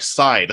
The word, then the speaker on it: Scythe: I've read that online her name is Scythe Scythe okay yeah more like side like yeah that joke